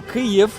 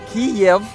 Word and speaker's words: Kyiv: For example, Kyiv is the right way to say it in Ukrainian, but if you say Kiev, it insults us Ukrainians a bit.